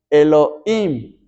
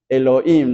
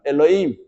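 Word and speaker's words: אֱלֹהִים: hebreas que se pronuncia Elohim algunos ponen como una J la H Elohim nosotros pronunciamos como en español Elohim nombre de Dios en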